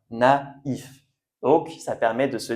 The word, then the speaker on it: naïf: Et pour le I, donc on prononce i et il faut bien faire attention dans les mots où vous le voyez, on prononce i. Donc comme dans ma is a i sien naïf.